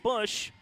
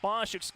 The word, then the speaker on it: Bosch: You have Shaylee Bush, make that Bosch, Lacey, her last name spelled the same but pronounced Bush. For Shaylee, it's pronounced Bosch, but the senior middle